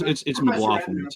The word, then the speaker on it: McGlothlin: Oh, it's McGlothlin. It's a leftover of my illiterate Scottish ancestors who tried to overthrow the government and got thrown out of the country for it. So, but McGlothlin, fine, Professor.